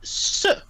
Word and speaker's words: ce: Livre, we would use a different word, C-E, which is pronounced se.